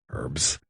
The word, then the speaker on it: herb: true and start saying herb while you're at it herbs so many herbs in Sp they just say herbs herbs and spices I'm from Philly we don't pronounce the h but we give even